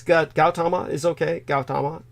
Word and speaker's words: Gautama: It's Gautama is okay? Gautama? They pronounce the G with a hard G?